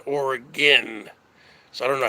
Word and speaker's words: Oregon: So it'd be like ORR dash then then gin. I don't know how you'd spell that, because if you spell it GIN, people would say gin, like you're drinking gin. It's not origin, Oregon.